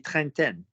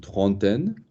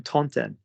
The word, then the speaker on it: trentaine: So do you think it's going to be trentaine? Not this side of Marseille. So what is the pronunciation of that word? Think of the word 30. How do you say 30? Une trentaine. Good. That's it. Don't be thinking of how I said zen. That's from a different background.